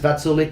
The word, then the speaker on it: Vaculik: It's pronounced Vaculik.